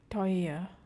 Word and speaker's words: teuer: Teuer, teuer. It sounds like oi, oi.